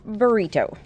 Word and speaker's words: Britto: talk to you about an artist named Romero burrito so let's try to say his name I'm